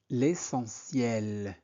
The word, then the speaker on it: essentiel: L'essentiel. L'essentiel. T I E L se prononce ciel et de jouer après mes devoirs et pas trop longtemps.